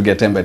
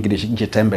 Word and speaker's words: Getembe: Mid foundation Mana president madam president welcome to Getemba TV have you heard about Getemba TV before no first we pronounce it in Jetembe TVembe Uh now to start with maybe you